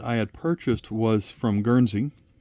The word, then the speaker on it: Guernsey: And that first coin that I had purchased was from Guernsey, like this one.